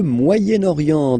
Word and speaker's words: Moyen-Orient: So it's interesting here because normally if you would have only this word here, you would pronounce it moyen, moyen, okay? But then as you get this vowel after, okay, you get to make the liaison between the two, le Moyen-Orient, Moyen-Orient, okay?